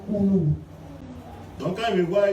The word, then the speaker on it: Oulou: Hein, Nigérian là c'est O-L-U, alors que moi c'est O-U. In Nigeria, it's spelled O-L-U. Eux c'est Oulu. My spelling Et puis is moi c'est Oulu. O-U-L-O-U. Their pronunciation is Olu, and I'm Ulu.